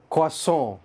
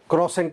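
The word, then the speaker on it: croissant: और last word आज का, बहुत इंटरेस्टिंग वर्ड, क्वासों, क्वासों, क्रोसेंट नहीं है ये, क्रोसेंट नहीं है, ना इसमें क्रो ना इसमें सेंट।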